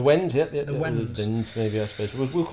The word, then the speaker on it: Wends: Slavic tribespeople known collectively as the Wends. Have I pronounced that correctly? The Wends, yep.